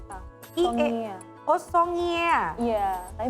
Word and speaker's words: songia: g i a i e a songia Oh songia iya Tapi bacanya songia biasa o s o n g